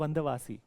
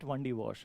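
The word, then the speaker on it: Vandavasi: So this battle was uh fought battle of one originally the name of the place is wandawasi okay but British since they are not able to pronounce it correctly they are calling it wandi war then 1760 this battle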